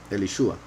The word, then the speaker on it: Elisha: There are several reasons why I think it could be, or perhaps should be, Elishua.